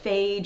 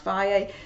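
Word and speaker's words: Fage: the the Phi a some people call it phage it's pronounced via these yogurts ninety nine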